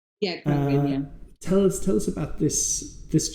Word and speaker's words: Khruangbin: I never know how to pronounce the name. Khruangbin. Yeah, Khruangbin, yeah.